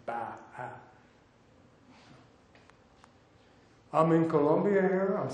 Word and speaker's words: Bachman: By the way, it's B-A-C-H, but it's not Bachman's. A lot of birders mispronounce it. It's Bachman's. He was a Protestant minister of German origin, and he pronounced his name Ba-ha.